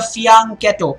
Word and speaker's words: fianchetto: so that's quite a fee on Cato it's an Italian term not bad not bad